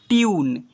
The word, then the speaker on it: tune: को यू से पढ़ते हैं, CUBE cube, TUNE ट्यून, MUTE mute, CUTE quit, ऐसे पढ़ते हैं।